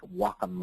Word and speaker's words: Wacom: that's the Whiteboard tool pronounced like Wacom like I'm like I'm walking somewhere w m it's the Wacom Bamboo tablet it's about